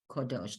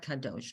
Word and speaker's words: kodosh: So it's Lador Vador Nagid, and you see that kamatz. The kamatz is that, Right. and it is a little bit darker and a little bit bigger. Oh. So that would mean you say it like or v'kodosh. Ki el melech gadol v'kodosh ata. Kodosh, not kadosh, kodosh.